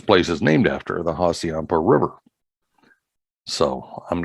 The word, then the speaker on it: Hassayampa: All right, and then I will pronounce it correctly. That's right. This is in Wickenburg, Arizona. Yeah. Hassayampa.